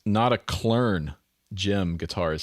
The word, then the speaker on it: Notaklön: Pronounced Notaklön, Jim Guitar is saying.